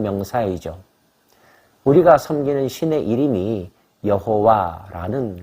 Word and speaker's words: 여호와: 우리가 섬기는 신의 이름이 여호와라는 것입니다. 야훼라고도 발음하죠.